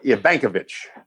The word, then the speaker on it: Evankovich: So tell us about Will Evankovich. Will Ivankovich. Sorry. Ivankovich is how they pronounce it.